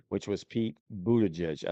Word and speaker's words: Buttigieg: which was Pete Buttigieg. I said that the other night when all of our kids were over for dinner, and they all laughed because it's a weird name, and I'm like, Buttigieg.